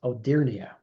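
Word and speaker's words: Hodierna: about before in previous uh gsps Giovani Batista odia and I finally found out today by Googling how he pronounce his name that the H is silence so it was odia and that was back in 1654 Robert Burnham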